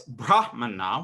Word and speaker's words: brahmana: say abraham and priest in the sanskrit it's brahmana with a long a so a brahmana would